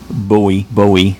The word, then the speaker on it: buoy: Well, Drew had an issue with the word, don't you remember? Although I think he came back and said, okay, this pronunciation's fine. But Bowie, I believe, was his preferred pronunciation.